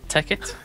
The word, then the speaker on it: Tekkit: Did I pronounce that right? Yep. ticket.